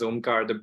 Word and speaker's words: Omkar: everybody my name is omkar the best way to pronounce my name is the first two letters om right every time you say it you meditate uh so my background